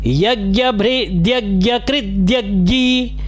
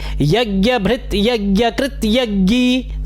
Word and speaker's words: यज्ञभृद्यज्ञकृद्यज्ञी: फिर ऐसे कर लीजिए, दो तरह से बता रहा हूँ, दोनों तरह से एक बार ध्यान से सुनेंगे किस तरह से इसका उच्चारण किया जा सकता है। यज्ञभृद्यज्ञी, या तो फिर यज्ञभृत, अलग अलग कीजिए, यज्ञभृत यज्ञकृत और फिर यज्ञी। अब आप दोनों तरह से किसी भी तरह से उच्चारण कर लीजिए, यज्ञभृद्यज्ञकृद्यज्ञी, यज्ञभृत्यज्ञकृत्यज्ञी, समय हलंत आएगा इसमें भी और इसमें भी, यज्ञभृत्यज्ञकृत्यज्ञी, यज्ञभृद्यज्ञकृत्यज्ञी, यज्ञभुग् यज्ञसाधनः,